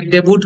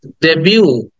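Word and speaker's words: debut: দেন 56 is, অনেকে ডেবুট বলি, ডাবুট বলি, বাট ইটস ডেবিউ, ডেবিউ।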